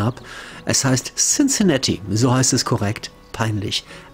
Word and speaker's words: Cincinnati: Ich sage gar nicht mehr, wie ich es ausgesprochen habe. Es heißt Cincinnati. So heißt es korrekt. Peinlich. Asche auf mein Haupt. Asche. Cincinnati.